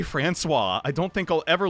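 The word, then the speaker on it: François: Some of you may remember Frankios. That's not how you say Francois.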